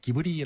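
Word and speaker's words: Ghibli: 아까 이탈리아라는 예 기블리에 일본시 표기로는 이제 기블리를 기브리 아고 일본 사람들은 표현을 하는데요 그 미아자키 하회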